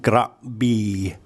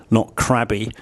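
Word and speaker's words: กระบี่: It's a Gorgo, then an R sound, then a very short vowel, so it's a gra. And then we have, for the second syllable, it's actually a long vowel, a B. So it's more like gra B, not crabby.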